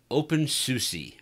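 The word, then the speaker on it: openSUSE: drill it into my own memory the correct pronunciation is Debian and open SUSE so if you have any other feedback comments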